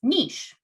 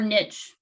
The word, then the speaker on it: niche: out competing one another the answer is niche or niche kind of like tomato tomato however you want to pronounce it but that's the role